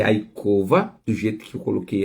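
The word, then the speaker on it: יעקב: O nome Jacó é a cova.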